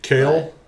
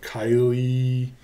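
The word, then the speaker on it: Kailh: again super subjective right kale uh or kylie if you take some random person on twitter's word that that's how it's pronounced it's a k-a-i-l-h uh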